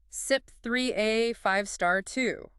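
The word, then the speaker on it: CYP3A5*2: You'll see it written like um CYP3A52 and you'd pronounce that SIP 3A5 star 2.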